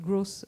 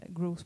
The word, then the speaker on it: growth: une plateforme qui s'appelle gross os euh growth pour croissance donc c'est qu'en français si on prononce mal c'est tout de suite un drame donc et donc l'idée